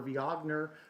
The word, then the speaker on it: Viognier: Nothing going on that day, but 2019, December 5th is the Viognier or Viognier for all of you people that want to pronounce it correctly.